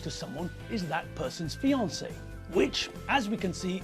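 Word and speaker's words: fiancée: the woman is a fiancee and what about the man well a man who's engaged is a fiancee yes rather strangely there's no difference in pronunciation only in spelling so when people become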